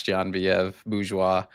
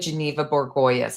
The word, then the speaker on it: Genevieve Bourgeois: that can pronounce Genevieve Bourgeois. Took me like a year to pronounce her name. It was like Geneva Borgoyes.